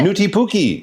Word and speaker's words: Nuutipuki: I mean, just naughty, it sounds like. But yes, he's the evil Christmas character. 他就是暗黑版的圣诞传说。他就讲说这个 again, how do you say it? Newty Pookie.